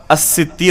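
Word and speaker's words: الستير: میں سے الستیر ہے۔ تو حقیقت میں صحیح تلفظ اس نام کا کیا ہوگا؟ الستیر ہوگا، ستار نہیں۔ تو اسی طریقے سے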